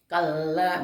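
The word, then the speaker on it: كلا: Kalla bukan kala gitu. Kala itu salah kalau kala, tapi baca kalla, ada tanda sabdullah ya.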